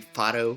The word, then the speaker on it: Fado: And because I'm Portuguese, probably our most recognizable genre would be Fado music, or I guess for like an American pronunciation would be Fado.